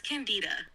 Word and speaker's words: Candida: Bernard Shaw's C candida or am I saying that right candida yes you're saying it right it's candida a play by George